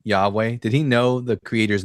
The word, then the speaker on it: Yahweh: It's four letters spelled Yudhe and it's pronounced Yahweh and it's used by characters in the Bible.